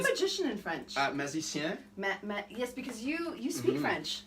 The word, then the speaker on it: magicien: Magicien. Magicien.